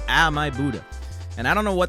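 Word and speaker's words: Ah My Budda: Oh my Buddha, not oh my Buddha. Ah my Buddha.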